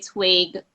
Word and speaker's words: TWiG: of what I want TWiG to be like, I was telling her I just know that I have TWG. And she Right. pronounced it twig. I said, but there's no I.